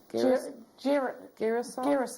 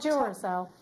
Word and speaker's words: Girasol: Girasol quartz? Is that how you say it? Girasol. Girasol quartz. Not Duracell.